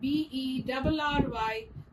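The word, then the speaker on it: bury: B-U-R-Y and B-E-R-R-Y both are pronounced as berry.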